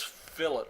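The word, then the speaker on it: fillet: connection by the way that's fill it well that's the way you pronounce that you have a Filat weld and then you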